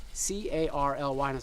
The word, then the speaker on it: Carly: "Oh, "? like the martial arts system. So, like in English. And I was like, "How do you spell it?" She was like, C-A-R-L-Y.